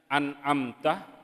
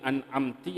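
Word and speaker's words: أنعمت: Kemudian syarat yang selanjutnya adalah ketika terjadi misalnya an'amta dibaca menjadi an'amti atau an'amtu, makmum konsen akhirnya makmum bilang subhanallah, maka itu sudah diulangi lagi saja.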